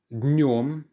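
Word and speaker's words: днём: Днем. Днем means in or during the day. Now yes, the pronunciation is quite difficult here. It's a nasal sound and you don't really pronounce the d at the start.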